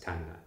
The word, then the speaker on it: Thangnak: Tangnak is written as Dragnag on a lot of different maps. Don't know why, but we pretty much heard everyone pronounce it as Tangnak.